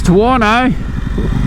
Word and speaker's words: Tuono: but i'm loving this tawano rhymes with porno look at all